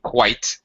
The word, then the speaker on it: quite: quite the first one quite is one syllable Qui yet is two syllables we separate the I